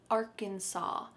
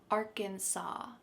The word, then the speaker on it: Arkansas: There is an S at the end, but we pronounce it Arkansas. Arkansas.